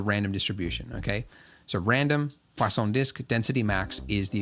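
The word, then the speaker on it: Poisson: distribution but something called pon dis distribution Pon there's no w in it but I was told that that's how you say it I guess it's French when we use this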